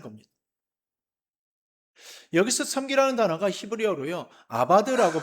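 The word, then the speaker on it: עבד: 아바드라고 발음을 하는데요.이 단어는 본래 종이 주인을 위하여서 일한다는 뜻에서 나온 말입니다.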